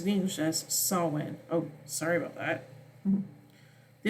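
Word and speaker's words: Samhain: from Irish GIC and it's and is correctly pronounced in English as saan oh sorry about that the 's title is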